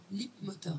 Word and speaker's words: Leapmotor: Rappelle le nom pour Leap Motor, Leap Motor. voilà. Ça se prononce comme, enfin ça s'écrit comme ça se prononce.